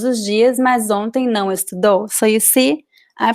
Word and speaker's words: estudou: Ele estuda português todos os dias, mas ontem não estudou. So same rules here. Estuda, second to last syllable. Estudou, the second to last vowel.